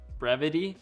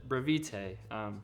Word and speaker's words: Brevite: Turns out it's pronounced Brevity. So sorry to everyone who I said Brevite.